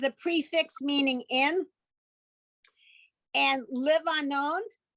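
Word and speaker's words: לבנון: This line 17, Ke'erez ba livanon, okay, or bal vanon. The ba in front of the word is a prefix meaning in. And Livanon is the Hebrew way of pronouncing the name of the country that's sort of north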